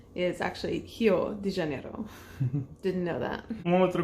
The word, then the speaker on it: Rio de Janeiro: The letter R is pronounced pretty differently in Brazil. It's pronounced more like how we pronounce H. So a city that I have my whole life called Rio de Janeiro is actually Rio de Janeiro.